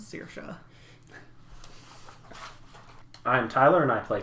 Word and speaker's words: Sorcha: It was Sorcha, but it turns out the pronunciation is Sorcha.